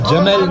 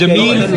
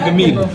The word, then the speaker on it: Jameel: It's Jamel, not Gamel, right? It's Jameel, not Gamil. Gamil. It's Gamel. It's Jamel. What? Yes, it's Gamel.